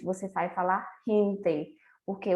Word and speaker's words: gente: Então, se você for falar em espanhol a palavra gente, você não vai falar gente, você vai falar gente, porque o G em espanhol ele tem som de quê?